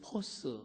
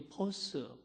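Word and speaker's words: φῶς: 우리가 헬라어로 이 빛을 포스 이렇게 발음합니다. 이 포스.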